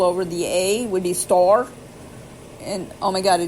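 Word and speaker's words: står: on top of it, a small round open circle on top of it is pronounced O. So ma is O. So S-T-A-R with a round circle over the A would be store.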